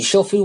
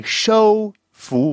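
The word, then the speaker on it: 说服: with the 你说服我了, he kind of said 你收服我了. So he kind of he reversed the O and the U.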